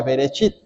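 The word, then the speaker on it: בראשית: en el principio y en el hebreo se pronuncia berechit y berechit es la palabra hebrea para referirse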